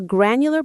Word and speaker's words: granular: A granular budget doesn't just say $400 for fun. It might break it down further. Let's practice it. Granular. Stress on the first syllable. Gran.